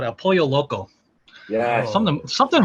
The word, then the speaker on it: El Pollo Loco: he's the only like he's the only white boy who knows two l's is a y in spanish you know it's embarrassing by